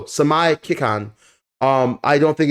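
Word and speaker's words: Seimei Kikan: But the main reason is until we see, I believe it's pronounced Samai Kikai, no, Samai Kikan.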